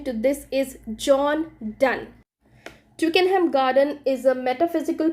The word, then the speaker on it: John Donne: So the spelling goes like Donne, but you cannot pronounce it as Donny or Don. The correct pronunciation to this is John Donne.